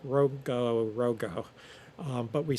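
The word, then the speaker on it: rongorongo: Easter Island has something known as the in English they say rango rango. It's not really pronounced that way.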